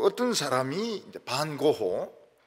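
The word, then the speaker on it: Van Gogh: 또 어떤 사람이 이제 반고호, 영어 발음은 뱅고 이릅니다. 뱅고.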